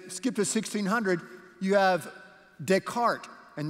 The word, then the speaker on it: Descartes: to 1600 you have Descartes and that's spelled d-e-s-c-a-r-t-e-s but it's pronounced Des cart Descartes he was a